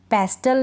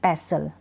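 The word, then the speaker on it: pestle: ठीक है, कास्टल नहीं पढ़ेंगे, कासल करेक्ट प्रोनाउंसिएशन, पेस्टल नहीं पैसल, ध्यान रखें आप ये।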